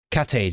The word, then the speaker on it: Cathays: Is that how you pronounce it? Cathays, yeah, Cathays.